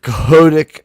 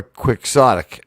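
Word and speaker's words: quixotic: So, it's you have your choice of cahodic or quicksic. I believe it's cahodic because it's Don Cahote and in the fashion of Don Cahote.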